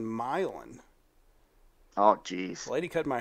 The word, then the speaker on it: Milan: I thought the shootout was in Milan this whole time and turns out it's in milin oh geez lady cut